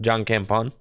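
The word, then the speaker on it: jankenpon: John Campon.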